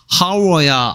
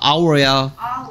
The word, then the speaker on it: hour: 그러면 흐 소리는 자음이니까 어 하우스 해야 되겠고, 근데 똑같은 알파벳 H가 있지만 얘는 하워야 아워야 H가 있으나 마나 소리를 안 내고 있죠.